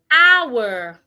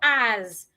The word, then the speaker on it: hour: Hour. The H is silent and it's not ah. You say, I I need to spend 2 hours.